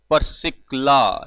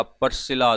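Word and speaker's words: Priscilla: एक्कुला और परसिकला या परसिला दोनों प्रोनाउंसिएशंस हैं इसकी, ये दोनों हैं और पौलुस रसूल है।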